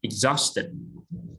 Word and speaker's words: exhausted: Number two, exhausted. Exhausted. Yes, it is a Z sound and it, not egg. Exhausted. Stress on. Exhaust.